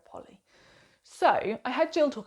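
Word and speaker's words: Polley: of memory um by Sarah Polly I think is how you say it I was saying Sarah Poley but I've heard a lot of people say Sarah Polly so I had Jill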